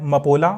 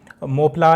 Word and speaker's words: Mopla: अब हम next article की ओर मूव करेंगे, वो है मपोला अपराइजिंग के रिगार्डिंग। अब देखिए मोपला या मपोला आप वो रीजन के अकॉर्डिंग वो चेंज करता है इसका प्रोनाउंसिएशन।